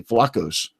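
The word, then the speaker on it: Vlachos: is a Tony Tony I'll say it correctly flacos thank you yeah people you see playing that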